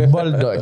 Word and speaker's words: Boldock: Boldoc. Boldoc. Des fois, je me mélange la Ben, prononciation.